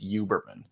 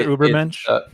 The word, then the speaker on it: Uberman: And I've heard him pronounce it before. It's Uberman. So it's not Ubermensch.